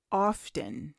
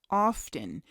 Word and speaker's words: often: Both begin with how often. How often. And you may hear this word, O-F-T-E-N, pronounced often or often. Same thing. How often or how often.